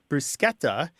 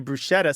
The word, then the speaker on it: bruschetta: for some reason though people want to make this word brusketa into bruschetta so it conforms to say the s CH in schlep or schmuck or schn